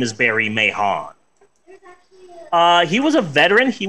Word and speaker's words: Mahon: the name of Barry Mahon. I'm pretty sure that the H is silent, and his actual name is Barry Mann, but I believe that all letters matter.